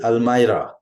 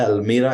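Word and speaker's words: almirah: dress back in द अलमारा अक्सर लोग इसको गलत प्रोनाउंस करते हैं अलमीरा actually it इज अलमारा सो put this dress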